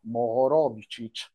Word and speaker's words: Moho: is the mo so the mo comes from the name of these seismologist from Croatia Moor which is a bit difficult name also for me to pronounce that's why conventionally we use the short form they that can be easily pronounce worldwide which is moo and these are seismologist